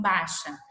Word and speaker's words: baixa: Aí a gente viu que a palavra baixa, eu posso falar assim, baixa.